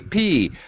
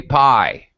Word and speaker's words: pi: number okay and many people have say p but in english we say pie i have heard it you know many other languages russians and koreans many people say p but in english we pronounce this as pi right okay uh as in